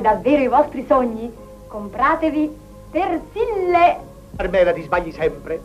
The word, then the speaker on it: Persil: Comunque, se volete realizzare davvero i vostri sogni, compratevi Persille. Carmela, ti sbagli sempre. Non si dice Persille, si dice Persil. Una L.